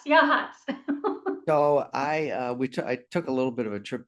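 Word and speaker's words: Yachats: Um and shout out to you for your sharing your wonderful property and Yashitz. Did I pronounce it right? Pretty close. It's Yashhats. Yahhats.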